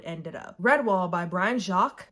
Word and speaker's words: Jacques: up redwall by brian jacques jacques i think is how you say his name again i read this